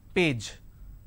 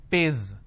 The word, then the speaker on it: page: the word which is Page okay now the pronunciation is per a j page correct but lot of people replace the jar with a z z pays they say page number what is the page